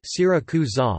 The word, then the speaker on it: Siracusa: Syracuse, Italian, Syracusa, pronounced Syracusa, listen, Sicilian, Sarausa, Saragusa, Latin, Syracuse, Ancient Greek,